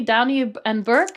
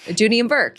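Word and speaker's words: Dooney & Burke: She was a tournament director, and the tournament sponsor at the time was, I don't know how to say it, probably Downey and Burke. Dooney and Burke, yeah.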